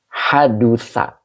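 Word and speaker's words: حدث: Fi'il madi tersebut ka'annahu seakan-akan dia gitu, hadusa wawako'a. Ini dibacanya hadusa.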